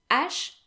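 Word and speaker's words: hache: so then we have ash the h is silent in french unless it is preceded by the letter c as we've talked about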